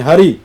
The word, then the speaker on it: हरि: लिखते हैं हिंदी में हरि हां जी हा और उसको हर भी बोलते हैं यह हमारा पंजाबी में हर कहा गया इसमें ई की जो मात्रा वो साइलेंट है ई तो हर है हर कते हैं हम